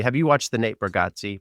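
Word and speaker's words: Bargatze: boat as me have you watched the Nate brigatti burgatti Nate baratti that's how you pronounce it that's how his daughter did the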